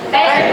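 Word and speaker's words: ペット: Jadi ada tasdidnya ya kalau bahasa Arab ya. Petto. Petto. Petto itu dari bahasa apa kira-kira itu? Pet ya, benar Rahmat Sang. Petto itu dari bahasa Inggris ya.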